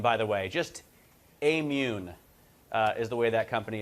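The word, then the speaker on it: Aimmune: new generation of um more allergic people it's amune by the way just amune is the way that company is pronounced phillips what's the story with phillips i'm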